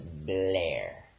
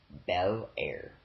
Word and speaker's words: Bel Air: He can't say Bel Air, he doesn't pronounce it right. This is Blair. Bel Air.